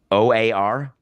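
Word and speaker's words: O.A.R.: OAR. Is that not a bait? Did I say it wrong? You said it perfectly.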